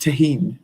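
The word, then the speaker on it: Tajín: Pronounced tahine.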